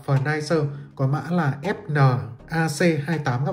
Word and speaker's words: FNIRSI: Ngày xưa mình hay đọc là Furnirsi, gần đây mới thấy anh em đọc là Furniser, có mã là FNAC28 các bạn nhé.